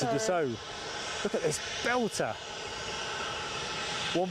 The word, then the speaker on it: Dassault: Grab H has pulled you up on the pronunciation of this plane. You're in the naughty corner like me. Oh, It's a Dassault.